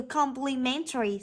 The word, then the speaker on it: complimentary: có đáp án a từ complimentary rơi vào âm thứ ba vậy chúng ta sẽ